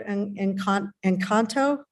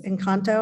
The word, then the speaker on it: Encanto: Movie in the park, we showed Encanto, right? Is that how you say it? Yes, Encanto, I believe is how it's pronounced.